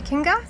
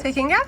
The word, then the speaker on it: Te Kinga: So, here we Now on board the Lagun 380 Tekkinga. That's how you pronounce it. Yes. Takinga. Tekkinga.